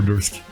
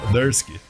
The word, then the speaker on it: Durski: E depois acabou ficando Júnior Durski.